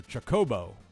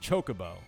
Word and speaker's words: Chocobo: You did put the accent on the second syllable, so Chocobo, not Chocobo.